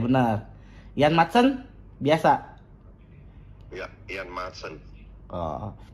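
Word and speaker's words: Maatsen: Bacanya gimana tuh Coach yang bener Coach? Betul, Zirkzee. Zirkzee benar. Ian Madsen biasa.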